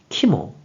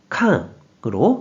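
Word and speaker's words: 肝: 그래서 간이 되었고 뜻으로는 키모, 음으로는 캉으로 각각 발음한다고 설명드렸어요.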